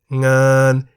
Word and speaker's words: งาน: Example of a word containing ng is ngan, meaning work in the middle tone. Why the middle tone?